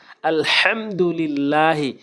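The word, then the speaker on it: الحمد لله: লা লিল্লাহ হাজেরি লিল্লাহি লিল্লাহ বলা যাবে না আলহামদুলিল্লাহি অধিকাংশ লোক এখানে ভুল করে আলহামদু এখানে বড় হাইনে উচ্চারণ করতে হবে এবং ছোটা উচ্চারণ করলে অর্থ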